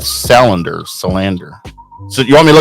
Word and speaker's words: Salander: Yeah, and Slander. Salander. Salander.